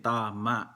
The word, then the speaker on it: tama: So ang salitang tama, ang first syllable niya long vowel din, tama. Okay? Dahil kung hindi long vowel 'yon, ang magiging bigkas tama. So hindi correct 'yon, di ba? At yung last syllable, merong glottal, tinatawag na glottal stop. Pakopya yata ang tawag sa Tagalog doon. Kaya ang tamang pronunciation tama. Merong parang may ano sa lalamunan yung last syllable, di ba? Tama. Okay? Dahil kung tama, hindi tama, di ba?